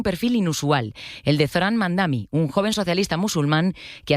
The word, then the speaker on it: Mamdani: Nadie sabe pronunciar mi apellido. Es Mamdani, pero a cada rato me dicen Mumdari, Mumnari.